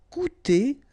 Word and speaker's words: coûter: Coûter, so technically you've got this O and U together and you will have the sound OU, coûter.